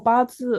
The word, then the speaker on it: Bazi: I think I don't know how to pronounce Bazi or something. Bazi? Bazi? Oh, Bazi.